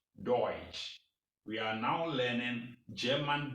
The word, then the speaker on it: Deutsch: d-u-t-a-c-h and the germans are doing so pronounce it deutsch deutsch we are now learning german deutsch here in